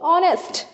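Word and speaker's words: honest: बट the pronunciation is नॉट bye consonant, it इज बाय ओ, ऑनेस्ट, ठीक है।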